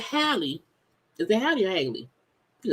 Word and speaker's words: Halle: So it's Haley. Because y'all know I be tripping. I know I'm like, is it Haley? I don't know. Because I feel like I would see stuff and I pronounce it different and I be tripping. And I'm like, I don't want to be tripping. And sometimes I do. But yes. Oh, okay. So Halle Berry.